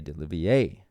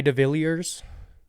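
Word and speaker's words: de Villiers: Elise Jones, and the Frenchman Jay Delivier. How do you say his name? Is it Delivier? It's Jay DeVilliers. That's how you say it in the country.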